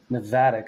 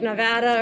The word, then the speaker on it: Navattic: The amount of people who say like Nevada or something, I'm just used to hearing it as Navattic as well.